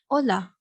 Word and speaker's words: hola: say hola uh so in spanish the h will be silence which means that we will pronounce it uh so if you want to say this word you will say hola instead of cola mashita repeat this word